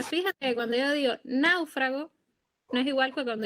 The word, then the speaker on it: náufrago: En náufrago, la fuerza parece estar en la A, por eso siempre se dice que cuando la sílaba tónica cae en el diptongo, gráficamente se acentúa siempre la vocal abierta, es decir, la A, en ese caso.